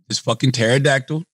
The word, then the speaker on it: pterodactyl: P-T-E-R-O-dactyl. P-T-E-R-O. I know it starts P-T-E-R-O. Oh, he's right. I hate silent letters. What's the fucking point? You're not even saying pterodactyl.